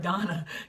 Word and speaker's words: Dawnna: This is the very second I realized that Dawnna is pronounced like Donna.